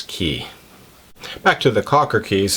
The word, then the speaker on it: Cay: cases personal preference but I do believe the most correct way to pronounce it based on my research is key back to the Cocker